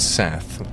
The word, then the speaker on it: Seth: It was Seth. Seth. Technically spelled with 2 S's. Preferably don't insult Rickshaw's god. Seth. That's better. Tries to overly emphasize the S.